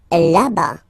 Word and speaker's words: là-bas: Là-bas. Là-bas. Remember final S, not pronounced.